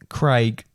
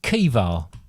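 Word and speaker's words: Caoimhe: Craig. Craig? It's actually pronounced Kiva.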